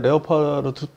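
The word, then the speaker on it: Leopard: 잠깐 좀 설명해 주시면 아 독일의 레오파르트 발음상 레오파르트 뭐 레오파르트 이렇게 하는데 형이 있고 2형이 있어요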